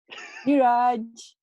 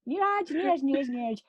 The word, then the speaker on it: Neeraj: Just to my listener, that's the right way to pronounce my name. Say that again. Neeraj. Okay, perfect. Okay. Thank you. Neeraj.